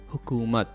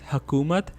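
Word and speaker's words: حکومت: should be you hokumat hukumat okay it means government and this word is usually mispronounced as hakumat and that's why i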